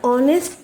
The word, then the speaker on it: honest: The H alphabet is silent.